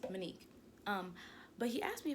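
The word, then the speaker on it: Mon'que: spelled m-o-n apostrophe q-u-e it's pronounced monique um this guy at work yesterday he asked me he was like hey um how do you pronounce your name is it monica or monique and i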